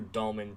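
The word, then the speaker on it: Dalman: Well, you spelled his name wrong. It's Drew Dahlman, D-A-L-M-A-N.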